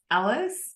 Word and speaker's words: Ellis: her name so um it looks more like als's but she just let me know that it's Ellis pronounced like Ellis in Wonderland so um Katie welcome